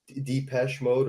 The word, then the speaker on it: Depeche Mode: he tells him like, oh, like you'd like Depeche Mode or Deepak Mode. I don't know how you pronounce Depeche that.